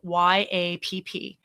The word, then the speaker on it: YAPP: And if you have not accessed it yet, it's spelled YAPP, YAP.